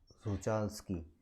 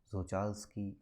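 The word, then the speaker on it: Czochralski: so it's a zocha sochalski so is something like uh zako slovakia spelling where you start with c but c is silent so sochalski crystal methodology say uh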